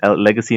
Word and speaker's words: LGXY: How do we pronounce? I mean, we will still pronounce it as Legacy, right?